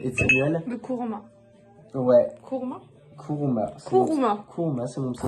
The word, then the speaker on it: Kouruma: Kuruma, Kuruma, c'est mon pseudo.